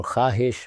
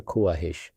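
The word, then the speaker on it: خواہش: Why do we read khwab rather than kuab or Khahish rather than Kuahish.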